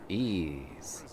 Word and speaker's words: Ys: you and me and its name starts with e but it's actually the letter y however it is pronounced ease we're gonna be joining